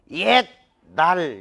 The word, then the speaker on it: 옛날: 옛날 이것도. 자, 따라 읽어. 옛날, 옛날, 옛적에. 이게 자, 그러니까 니은의 영향을 딱 받아가지고 시옷이 완전 동화가 일어나는 거야.